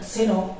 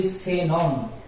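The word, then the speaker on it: xenón: Not seno, it will be senon. Genome, that means genome. It's a gas. Genome. It's senon. Y.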